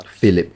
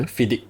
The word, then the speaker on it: FIDIC: International standard that's the FIP contracts right uh phip yeah fidic fidic how do you spell it fidic fidic but these are normally used